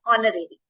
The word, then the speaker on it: honorary: but an honorary at is silent it is pronounced honorary o o is a vbal sound that's when